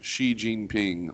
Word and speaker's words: Xi Jinping: the president Xi XI and they'll say G, and I'm like, no, that's not even how you say it. I say Z. What? Yeah, Z. Well, I think X is like an SH.